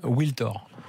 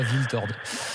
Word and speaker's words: Wiltord: C'était comme Wiltor et sa maman voulait qu'on dise Wiltor et pas Wiltord.